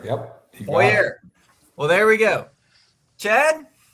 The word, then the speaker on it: Poirier: Is that how it's pronounced? Yes, Poirier. Yep. Poirier.